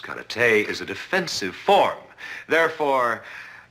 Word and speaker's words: karate: your mistake cat Ruddy as you call it correctly pronounced karate is a defensive form